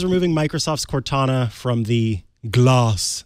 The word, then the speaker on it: GLAS: Johnson Controls is removing Microsoft's Cortana from the GLAS. That's GLAS, so you do have to say it like that.